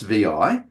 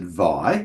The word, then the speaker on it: vi: So it is correctly pronounced vi. Uh some people will pronounce it vi which is not correct. Okay. And I once heard someone pronounce it six which I thought was priceless.